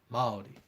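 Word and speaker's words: Māori: typewriter or something, then you spell it Maori because Oh. the A is extended. So it's Maori.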